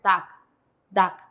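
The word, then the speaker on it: 닭: Entonces aquí, cuando tenemos en Bachin, riol con kyok, la riol se omite, la kyok es dominante, entonces se va a pronunciar dak, con K, ¿sí?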